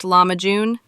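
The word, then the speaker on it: lahmacun: Turkish pizza commonly known as lamajun, pronounced lamajun, is a thin, crispy flatbread topped with a flavorful mixture of minced meat and finely diced vegetables.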